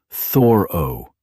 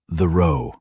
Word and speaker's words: Thoreau: His friends pronounced his last name Thoro, not Theo. Think about that. We've been saying his name wrong for 150 years.